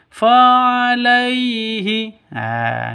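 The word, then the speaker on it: فَعَلَيْهِ: Yang betul lemes, lentur, jelas. Fa'alaihi. Namanya sifat lin, bukan matlin.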